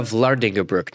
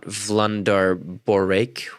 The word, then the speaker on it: Vlardingerbroek: Or to this very country, where wait, it's Eva Vlardingerbroek, not Vlandarborek. Wait, is that a thing?